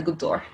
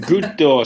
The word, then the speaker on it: Goutte d'Or: that neighborhood we are talking about is the good door like good door so firstly let's start really basic how help me to pronounce it like a French person everyone home